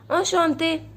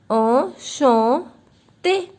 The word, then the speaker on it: enchanté: Enchanté. This EN in French gives the sound of on.